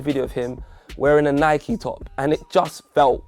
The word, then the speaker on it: Nike: so wrong and yes i said nike because that's how it's pronounced or i could be very rubber if i want to and call it nikkei but we're not going